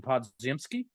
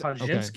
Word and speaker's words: Podziemski: Brandon Podziemski. It sounds right. I'm not positive. I think you got to get that J sound in there. The DZ Podziemski. Okay.